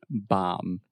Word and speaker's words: bomb: The B is silent. Bomb. That's true. Okay, bomb. You're still saying a B at the end. Bomb. Okay, so say the word mom. Mom. Now just, Bomb.